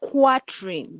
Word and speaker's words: quatrain: It is spelled quatrain, but it is pronounced quatrain.